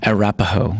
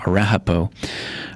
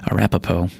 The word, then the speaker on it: Arapaho: overwhelming victory for the Lakota North Cheyenne and Arapaho excuse me I pronounced it wrong earlier Arapaho Arapaho that were led by several major war leaders